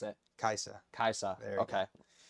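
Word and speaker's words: Kai'Sa: So Kasai? No, how do I pronounce it? Kaisa.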